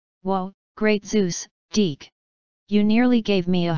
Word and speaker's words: DIC: reason why it's spelled D I see and pronounced deke is because it's supposed to mean something that was supposed to be an acronym for diffusion information and communication and he Hayward and deke entertainment kept that slogan throughout the entire lifetime